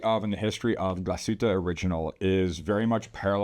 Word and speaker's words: Glashütte: new brand for us here Oliver Smith Jeweler gluta original perfect pronunciation thank you I was going to say